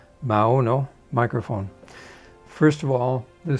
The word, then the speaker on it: Maono: footnote to the mauno i think i was pronouncing it wrong before mao no microphone first of all